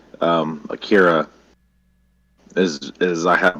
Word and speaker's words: Akira: and i was like have you seen um akira and he was like no it's akira and then he just drilled into my head he refused to let me pronounce it any other way so i i have